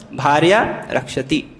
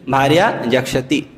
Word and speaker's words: Bharya Rakshati: But instead of that, he started wrongly pronunciating it. And he started saying Bharya Jakshati. May that Durga Devi eat up my wife.